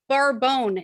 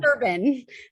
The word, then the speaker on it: Bourbon: Geranium barbone is how it's pronounced. Just not Barbone. bourbon.